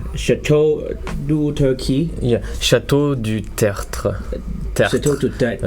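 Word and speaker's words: Château du Tertre: Yeah, Chateau du Tertre. Chateau du Tertre. It's complicated, really. RTR. It's hard to pronounce.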